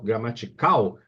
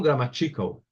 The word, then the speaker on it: gramatical: A sílaba tônica é cal. Gramatical, eu não falo grammatical.